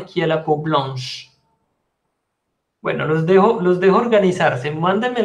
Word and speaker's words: blanche: Et la peau blanche, bah c'est Frédéric et Isabelle. Frédéric et Isabelle ont la peau blanche. Attention, blanche. Le E ne se prononce pas. Blanche. Noir.